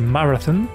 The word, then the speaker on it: Marathon: Le nom de Marathon, que je devrais d'ailleurs prononcer Marathon, vient du fait qu'à l'époque